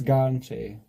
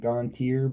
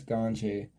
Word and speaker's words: Gontier: And it's Gonche. It's spelt like you would say it Gontier, but it's Gonche.